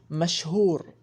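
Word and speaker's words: مشهور: Oh, by the way, the letter Shin, we don't have the letter in English, but we have the sound. The sound is like SH. When you say should, that's the sound of the Shin letter. Sha.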